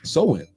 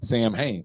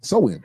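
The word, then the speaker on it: Samhain: that to me that's Sam Hayne right but it's pronounced like a woman's weave so in okay I mean it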